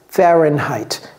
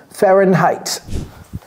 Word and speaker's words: Fahrenheit: avant le F et en anglais ça se prononce fahenheit Fahrenheit il y a deux h dedans Fahrenheit Fahrenheit le degré plus le F alors Fahrenheit